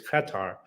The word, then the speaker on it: Qatar: uh this country so the correct pronunciation through exhaustive research by many people is Qatar but the first um syllables kind of not a sound that exists in English it's an Arabic sound so most of the